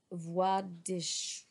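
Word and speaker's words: Władysław: in polish i ask voidish a bit louder the second time the l is pronounced as and the w as v so va walter is shown the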